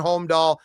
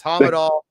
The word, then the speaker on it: Hommedahl: We live in Bon Homme County, which is Homme. So I've been saying Hommedahl. It's not right. It's Hommedahl.